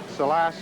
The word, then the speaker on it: Salas: And of course, in '72 was his biggest year, with impressive wins over Jose Salas and Leo Campbell, or Salas is the right pronunciation.